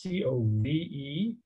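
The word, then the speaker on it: Cobh: head over to codes it's pronounced c-o-v-e and it's famous for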